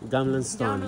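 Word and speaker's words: Gamla stan: vieja de est cómo se llama en sueco gam Stone gaml Stone a ver dilo otra vez gam y Dinos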